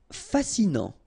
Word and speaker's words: fascinant: Fascinant. Final T not pronounced, so you get this A-N. En, non, fascinant.